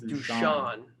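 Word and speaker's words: Dušan: the the little like the s in his name is pronounced shh so it's dusan duchamp du champion interesting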